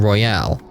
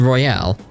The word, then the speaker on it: Royal: acknowledge anything that happened in Royale. Or Royal, for those who say it properly. But in Royale.